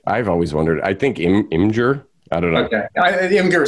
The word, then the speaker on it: Imgur: I think Imgur. I don't know. Okay. Imgur sounds just weird. Yeah. So I say like an ogre or something. I am Imgur.